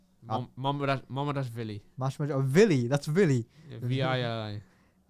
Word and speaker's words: Mamadashvili: So do I pronounce it how it looks? Yeah. Mamadashvili. Mamadashvili.